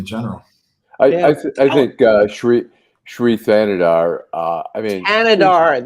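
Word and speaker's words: Thanedar: Thanadar. The H is silent. Thanadar. Thanadar.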